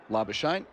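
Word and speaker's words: Labuschagne: But then of course we got to the point where he preferred it to be pronounced Labashane.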